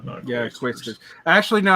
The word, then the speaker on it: Quaestors: Is that how you pronounce that? Quaestors? Yeah, Quaestors.